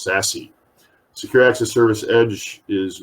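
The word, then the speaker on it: SASE: access service edge and it's sometimes pronounced sassy secure access service edge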